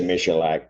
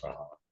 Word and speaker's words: Maholic: I was going to say Michelac, but I know it's Maholic.